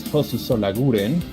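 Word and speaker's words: Jesús Solaguren: Then we find in row 6, Jesus Solaguren from Spain. There you go, a little bit of that Spanish pronunciation.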